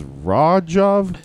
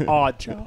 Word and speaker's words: Raghav: And it says your name is Rajav. Okay. Yeah. Odd job. Pronounced odd job.